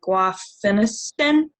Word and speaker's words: guaifenesin: I suck at pronouncing it, but guaifenesin.